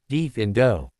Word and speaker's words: defendo: The incantation is defendo, pronounced deaf indo.